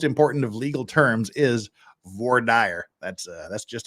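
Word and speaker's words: voir dire: of that most important of legal terms is VOR dire that's uh that's just how it was pronounced and you will not you will not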